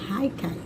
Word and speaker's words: haicai: ela se chama haikai haikai vontade para você você haicai o h i mantém o som que a gente está acostumado né mudo haikai não ele produção